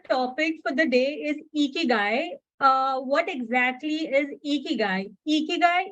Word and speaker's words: ikigai: Ikigai, again to mention, where most of us lack in pronouncing it in a right way, it is Ikigai.